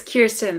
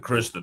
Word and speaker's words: Kirsten: Kirsten, um Kirsten, right? I said it right. Right. It's Kirsten, but that's okay. Kristen, what's your final thoughts? Said it wrong.